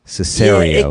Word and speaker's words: Cesario: middle of it because i think i've been pronouncing it with the traditional italian cesario but it's kind of a more americanized long brighter a cesarean it can be pronounced either way either sounds great i